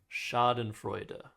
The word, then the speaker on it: Schadenfreude: But I think the German pronunciation and English pronunciation are kind of the same, Schadenfreude. So, very close. You had the You had the last two syllables correct.